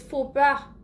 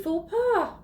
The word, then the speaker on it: faux pas: Well, the faux is not FAUX. It is feu. Oui? And then the pas is pas, not pass.